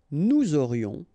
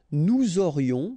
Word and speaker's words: nous aurions: Nous aurions, final S not pronounced, and then you've got this liaison, nous aurions.